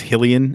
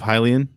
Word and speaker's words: Hylian: the only one who sees that word and says he'll e'en instead of Hylian I think so and